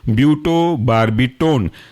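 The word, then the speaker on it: butobarbitone: टी ओ एन ई एक साथ कहलाएगा ये ब्यूटो बर्बिटोन दूसरा एग्जांपल है पेंटो बार्बी टोन जो बिल्कुल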